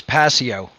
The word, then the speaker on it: Passio: it's a pleasure to be here absolutely the pronunciation of your last name for people it is passio okay yeah so i know david wants to